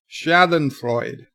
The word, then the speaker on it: Schadenfreude: TV Chris says sorry it's pronounced schadenfreude pleasure from somebody's else's